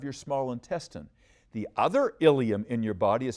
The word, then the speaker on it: ilium: They sound alike, but they're spelled differently. Watch me please. The first one is Ilium, I-L-E-U-M. That's the last part of your small intestine. The other ilium in your body is